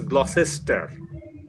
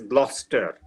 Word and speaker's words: Gloucester: student of English or an Indian student would pronounce it as Gloucester but then I you know he would go and find that it is being pronounced as Gloucester Lister not listister this this is about place